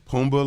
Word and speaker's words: Pumbaa: Pumbaa, like just like Lion King. That's what that is. Timon and Pumbaa.